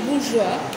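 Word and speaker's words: bourgeois: বুর্জোয়া, যেটাকে বাংলায় তুমি বলবে বুর্জোয়া, এটা আবার একটা ফরাসি টার্ম, তো ওরা জোয়াটা হ্যাঁ, মানে ফরাসিতে জ নেই, ওদের জ, তাই জন্য বুর্জোয়া, প্রোনাউন্সিয়েশন ইজ বুর্জোয়া।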